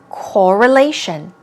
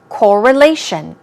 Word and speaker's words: correlation: pronunciation as you see the stress goes on the third syllable it's correlation correlation one more time correlation means connection linked relationship